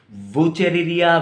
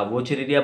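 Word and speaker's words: Wuchereria: याद रखिएगा बच्चों, ये नाम थोड़ा सा हार्ड है प्रोनाउंसिएशन में, कि डब्ल्यू का प्रोनाउंसिएशन प्रोनाउंस नहीं होता, साइलेंट रहता है, तो यहाँ से भी प्रोनाउंस कर सकते हैं आप, वुचेरिया बैनक्रफ्टी, ठीक।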